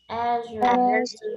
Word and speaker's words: azure: azure, Azure.